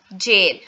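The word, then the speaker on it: gaol: सो गैओल या फिर आप इसको प्रोनाउंस करते हैं जेल।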